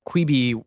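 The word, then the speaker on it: Quibi: tell us about quby quby quey is how you say que yeah you may remember or perhaps blissfully not quey was what the coastal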